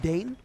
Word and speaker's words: Dan: Dan flips on a dime and dines Benja. That's a brutal game to lose. It's pronounced Dane.